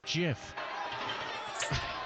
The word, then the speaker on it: GIF: I shouldn't, because it's canonically pronounced GIF.